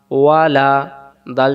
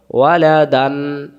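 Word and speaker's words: وَلَدًا: দা কি হইলো ওয়ালাদা আর যদি এটা না থাকতো তাহলে উচ্চারণ হতো ওয়ালাদান ওয়ালাদান তখন দুই জবর উচ্চারণ করা লাগতো তাহলে আমরা এখান থেকে শিখলাম যদি দম ফিলিবার সময় দুই জবর পাওয়া যায় এক জবর বাদ দিয়ে এক আলিফ টানতে হবে ওয়ালাদা পরে নুন জবর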